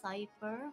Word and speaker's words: Cypher: So my name's actually pronounced Cypher, but Cyber, okay. everyone keeps saying it as Caper, so now I introduce myself as Caper because it's easier.